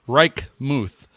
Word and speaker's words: Reichmuth: Reichmuth. Sounds like Reichmuth. German.